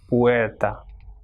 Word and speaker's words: puerta: U and E will be pronounced as puerta.